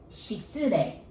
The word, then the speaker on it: 失礼: The first part, 失礼. And take a look at the first four characters. S-H-I-T. Shit. So just imagine if shit was plural. And how would you pronounce? Shits, right?